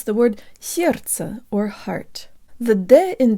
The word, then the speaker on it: сердце: protruded so so so the first syllable almost rhymes with the English word air and the S is